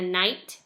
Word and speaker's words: knight: a gnome and a knight both of those are silent letters at the beginning so be looking for